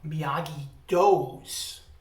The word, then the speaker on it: Miyagi-Do: He said, we got to open up Miyagi-Do's, like spelled like dough, like pizza dough.